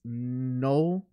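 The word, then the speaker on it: Knull: an ancient evil deity known as Null, and that's spelled K-N-U-L-L, and Null is basically like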